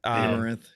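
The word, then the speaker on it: Amouranth: Amaranth, is that how you pronounce it? Amaranth.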